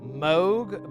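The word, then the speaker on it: Mogue: This module is called Moog, but it's spelled M O G U E.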